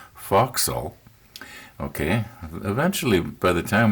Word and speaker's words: forecastle: the forecastle but i've been corrected it's actually pronounced foxhole okay eventually by the time we get through